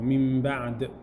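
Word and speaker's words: مِن بَعْد: You're going to change the noon sound into a meme with ghunna and ikhfa. Min ba'd. Min ba'd. For approximately 2 harakat, the ghunna. For approximately 2 harakat. Min ba'd.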